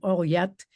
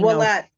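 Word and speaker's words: Ouellette: Olyette, 16. Willette. What? Willette. That's how you say it? I don't think Willette. So. Really? Yeah. OUE? Yes, Willette.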